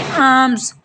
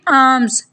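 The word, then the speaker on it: alms: हैरत को हम बोलेंगे आर्म्स यह यहां पर जो ल है हम इसको साइलेंट करेंगे और इसको बोलेंगे आर्म्स खैरात आर्म्स नेक्स्ट हमारा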